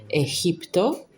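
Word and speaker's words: Egipto: As the master says, we have the mantra ehipto which is associated to Egypt. But it is always pronounced this way and that's not because the native language of the venerable master Samuel was Spanish but because it is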